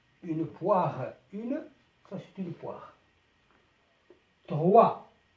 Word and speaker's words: droit: droit droit الأس حرف الأس لا ينطق.